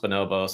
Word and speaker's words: Bonobos: that it's you know pronounced bonobos and it's not Bombas the sock company like all these different